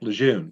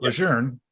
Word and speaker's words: Lejeune: military think it's camp lejeune oh anybody that reads it i mean there's no r but general john a lejeune pronounced at legerne he's from northern virginia